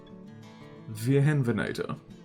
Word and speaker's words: Wiehenvenator: Uh, remind me in German in Germany when you proceed a W to pronounce it as V. For some reason, I don't remember. Uh, V. Whoops, I spelled that wrong. Vhen Venator.